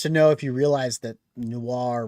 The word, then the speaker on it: noir: know if you realize Noir rhymes with star I think that's part